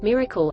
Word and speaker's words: MRKL: sources llms using tools mrkl systems modular reasoning knowledge and language pronounced Miracle are a neurosymbolic architecture